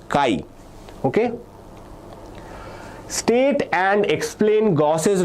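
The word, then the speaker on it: chi: The pronunciation for this is Kai.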